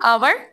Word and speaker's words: hour: हाँ, आवर। Teacher आवर। अवर। आवर। HOUR। इसमें कौन सा लेटर साइलेंट है? ये W। गलत। H। H है इसमें साइलेंट।